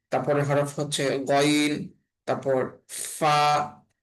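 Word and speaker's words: ف: তারপর ফা ফা ফা এর উচ্চারণটা হবে নিচের ঠোটের পেট উপরের দাঁতের আগার সঙ্গে লাগাইয়া।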